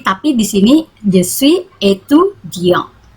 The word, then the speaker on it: étudiant: Mais ici, tapi di sini je suis étudiant. Ini ada aksen bacanya étudiant.